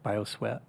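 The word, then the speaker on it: bioswale: like you mentioned bio sweat how do you pronounce that bioswet yeah b-i-o-s-w-a-l-e what is that um it's what's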